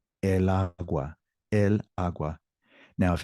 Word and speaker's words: agua: The intonation is on that first syllable. Agua, agua. So if I were to say la agua, it would sound like lagua, one word.